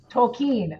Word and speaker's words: Tolkien: How do you pronounce it? I've heard it so many different ways. Matthew? Tolkien, okay.